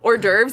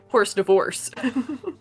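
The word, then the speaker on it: hors d'oeuvres: That gives them a funny story they can tell later down the line when they learn that or derves is pronounced not as horse divorce.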